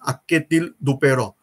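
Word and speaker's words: Anquetil-Duperron: Spelling is something different, but the pronounce of that spelling is Akketil Duperron.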